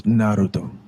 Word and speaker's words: Naruto: freaking naruto that's how you say it it's naruto yo i'm getting ambushed yo now i got